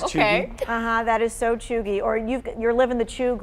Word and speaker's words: Cheugy: Cheugy? That is how you say it. Okay. That is so chuggy.